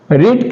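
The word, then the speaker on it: read: A book was रीड का तीनों form रीड रेड रेड होता है। स्पेलिंग सेम रहता है। इसलिए आपको चिंता करने का कोई बात नहीं। ये सिर्फ रेड ही होगा।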